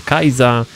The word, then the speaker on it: Kyza: I on na Instagramie nazywa się Kyza, tak się pisze, czyta się Kajza.